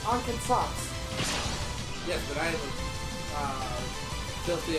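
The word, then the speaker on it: 暗剣殺: It's Ankensatsu. Yes, but I am filthy American, so I don't pronounce it as an American.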